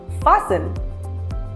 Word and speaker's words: fasten: As fasten or fasten? Well, the correct pronunciation is fasten because the letter T is silent.